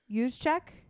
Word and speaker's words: Juszczyk: I believe the J is silent. Juszczyk? I believe that's how you pronounce it.